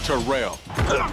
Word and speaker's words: Terrell: And it's pronounced Terrell.